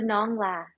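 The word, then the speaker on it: Nón Lá: later this year uh go to nongla I say I say yeah is how you say it in Vietnamese it means Straw Hat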